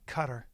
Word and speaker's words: Qatar: for whatever you know you pronounce it cutter so annoying you pronounce qar cutter yeah but just say Qatar everyone says guitar I've never heard cutter